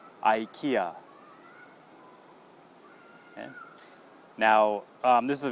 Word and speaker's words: IKEA: ka EK ax so in english all you have to do is just change the first sound to I not e I and not K